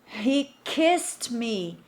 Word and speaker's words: kissed: Eu não vou pronunciar esse E. Eu não vou dizer kissed. No way. No, no, no, no. Ok? Kissed. Kissed. Repeat.